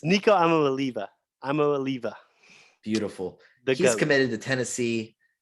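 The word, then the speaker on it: Iamaleava: three cole can you give me the actual pronunciation it's nico i'm a liliba i'm a leaver beautiful he's committed to tennessee um he's ranked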